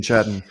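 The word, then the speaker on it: Chatten: And then, uh, Grian Chattton, is that how you say his name? Yeah, Chhatten.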